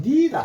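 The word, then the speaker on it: knee: 말은 어 우리가 영어로는 니라 합니다. 요거를 무릎을 영어로 뭐라고 하느냐면 니라 그래요. 니 니 쓰는데 영어가 요렇게 요거는 지금 악 좀 어려울 수가 있습니다.요 발음은 요거는 소리 안 나요. 소리 소리 안 납니다.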